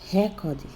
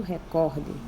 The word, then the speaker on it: recorde: Por exemplo, tem pessoas que diz recorde e não recorde, que é a palavra correta. Não tem acento. A pronúncia correta é quem vai nos dizer qual é a sílaba mais forte. No caso, ela é uma paroxítona e muitas pessoas a leem como se fosse uma proparoxítona.